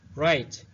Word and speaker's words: write: یا آموختن read خواندن write نوشتن کلمه حرف W تلفظ نمیشد write every day هر روز